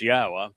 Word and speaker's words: Yahweh: So it is Yahweh and the beloved son writes, "Yahwah reigns by